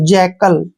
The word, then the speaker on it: jackal: Next word JACKAL, देखिए JA का उच्चारण हम क्या करेंगे, जे, और CK का उच्चारण हम कै करते हैं, ठीक है। AL का उच्चारण यहाँ पर ले करेंगे, जैकल, जैकल होता है गीदड़, जैकल, गीदड़।